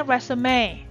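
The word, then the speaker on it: résumé: Ini bacanya resume. Jadi dia diambil dari bahasa Perancis.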